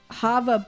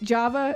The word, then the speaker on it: Java: blue balls the blue hava banana uh-huh i believe i believe you pronounce it with java like java java java um it is actually